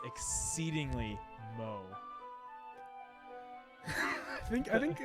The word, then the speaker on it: moe: It's exceedingly mo. I think Like from The Simpsons? no, I think that's a term. I think it's pronounced moe, I believe.